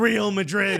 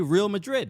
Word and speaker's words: Real Madrid: You know, them small clubs like Manchester City and Real Madrid, as they say in England. That's how they say it. They refuse. In Spain, they say Real Madrid.